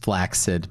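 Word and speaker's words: flaccid: It's pronounced flaxid.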